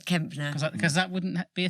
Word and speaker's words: Kempner: So this is Sooz Kempner. Kempner. I wasn't sure if it was a silent P. No, Kempner.